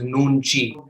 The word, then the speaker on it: Nunchi: anyone's beautiful picture right there so nunji is pronounced as nunji the author she's written three more books then